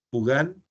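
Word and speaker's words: Pugin: arquitectura el uno es a pugan se escribe pin con g pug i n Agus pugan y el otro es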